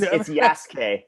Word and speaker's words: Yasuke: I don't think I'm pronouncing that right. Oh, you're pretty close. It's Yasuke.